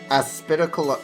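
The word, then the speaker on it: Aspidochelone: How do you pronounce this? Aspidicalone. Aspidicalone.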